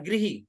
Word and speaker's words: गृह: लेकिन हम जब पढ़ाएं, मातृभाषा से परे बच्चा नहीं है ना, जी मातृभाषा को प्रेम करता है, तो आप बता दें बेटा हिंदी में इसका उच्चारण गृह होगा, है ना।